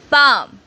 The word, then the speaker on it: palm: E, palm. Silent letter is L.